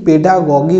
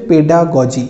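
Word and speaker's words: pedagogy: বহু ক্ষেত্রে অর্থাৎ বহু স্টুডেন্টের মুখে, যেমন আমি শুনেছি বহু বইতেও এইটি পেডাগজি বলে লেখা থাকে, যেটা কিন্তু একদমই ভুল। এটার উচ্চারণ হচ্ছে পেডাগজি। এটা তোমাদের কোশ্চেনেও আসতে পারে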